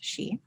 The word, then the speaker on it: Sidhe: to talk about the she so that's spelled s-i-d-h-e so you may have seen the word around and not known how it's pronounced so it's pronounced she and it's an interesting